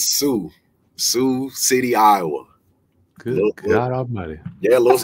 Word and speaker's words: Sioux City: who you are say what how do you pronounce where you're from uh it's Sue Sue City Iowa good God Almighty what going on in